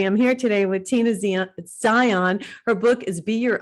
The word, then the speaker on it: Zion: It's Zion, correct? Am I It's pronouncing Zion, yes.